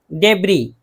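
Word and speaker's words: debris: डेबरी, डेबरी कहते हैं मलबा को, मलबा कोई भी किसी चीज़ का टूटा हुआ जो है मलबा, इस नहीं पढ़ा जाएगा।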